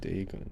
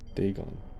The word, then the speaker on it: Dagon: So it's pronounced Dagon. Dagon.